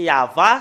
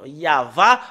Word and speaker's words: Yahvah: l'an 2000 nous voyons très bien que c'est yava son nom c'est vraiment très très clair le nom yava en l' moins 2000 et j'espère bien que